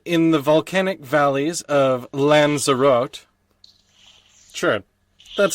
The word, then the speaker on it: Lanzarote: is a vineyard in the volcanic valleys of lanzarote sure that's how that's pronounced and three cinosilicophobia is the fear of an empty glass okay oh boy there's a vineyard in the volcanic fields of what lanzarote l-a-n-z-a-r-o-t-e and there's no company air company country